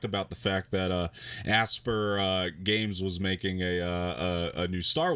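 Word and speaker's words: Aspyr: gonna remake developed by a sphere aspire can't pronounce it i i thought it was asking it's asper yeah okay nice but yeah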